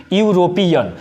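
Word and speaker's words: European: तो यहाँ पे क्या बोल रहे हैं हम लोग? यूरोपियन। यूरोपियन का मतलब क्या? यहाँ पे यू साउंड, यहाँ पे कॉन्सोनेंट साउंड का प्रयोग कर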